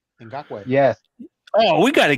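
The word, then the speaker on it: Ngakoue: Ngakwe. Yes. Oh, we got to get this kid. He probably won't be too much. Nagaku? I don't know how to pronounce that. Ngakwe. Ngakwe.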